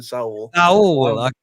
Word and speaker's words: Saúl: Yeah, I still pronounce him Saúl. Cool. It gives him that extra Spanish flair at the end of his name.